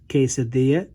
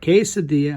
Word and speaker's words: quesadilla: one's a little bit more difficult and incorporates quesadilla and jalapeno specifically on the i long e